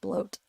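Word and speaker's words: blót: is from my my Thor bot bloat that's pronounced bloat I learned my Thor bloat today a cool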